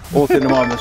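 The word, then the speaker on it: Ornithomimus: How do you pronounce it? Orthonemimus.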